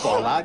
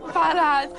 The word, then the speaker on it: Ballard: Not Bollard. Ballard.